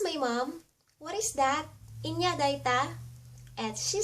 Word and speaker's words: anya: daiya or that and india is what some say it or pronounce it as india and there's some that pronounce it as and yeah in the data push